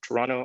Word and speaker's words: Toronto: Dan from UCLA and Jen from the University of Toronto. I've recently been informed that Canadians pronounce Toronto without the second T.